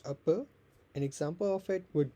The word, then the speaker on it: apa: The last vowel often becomes a softer schwa.